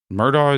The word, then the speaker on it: Murdaugh: But Murdaugh spelled like Robert Murdoch? Huh? No, they pronounce it Murdaugh, even though it's spelled Murdaugh.